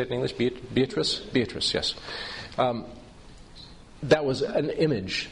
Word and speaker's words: Beatrice: Beatrice, yes.